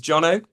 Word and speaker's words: Jono: Um my name is Jonno. Uh if you Let me just see if this is working. Here we go. My name is Jonno. Uh, it rhymes with Bono as Willam once told